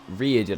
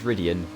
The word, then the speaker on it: Ridian: Ridian, I can now say his name, not Riordan, I think I was saying before. It's Ridian.